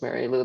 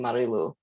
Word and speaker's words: Marilu: And quite frankly, even with C.A.R.E, there was a transition period where maybe James and Jen first heard me as Mary Lou, then all of a sudden it became Marilu.